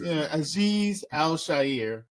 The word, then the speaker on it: Azeez Al-Shaair: his name let me quit messing it up aiz Al Shier that's Aziz Al Sher Aziz you keep saying you said before that